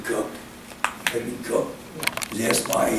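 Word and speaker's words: Coke: in 1628 cook cook he pronounce his name cook me cook was asked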